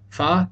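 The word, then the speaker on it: فاء: Here we go, Fa and Kaf. Fa is relatively easy to pronounce, while Kaf can be pretty tricky. Fa is pronounced just like an English F, whereas Kaf isn't even pronounced correctly by most Egyptians.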